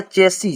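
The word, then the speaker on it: chassis: तो यहां पर हो जाएगा चेसी।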